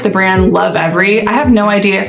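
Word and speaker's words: Lovevery: really like the brand Love Every. I have no idea if I'm pronouncing that wrong. It's Love and then Berry, but when you combine it, I say Love Every.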